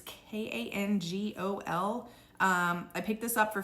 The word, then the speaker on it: Kangol: This brand, I think is pronounced Kangol. It's Kangol.